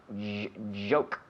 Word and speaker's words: joke: We take a CH like cherry ice cream, cherry, and we activate the vocal cord. We have a J, joke, joke.